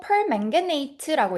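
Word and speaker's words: permanganate: 그리고 perm게이트ate라고 읽습니다.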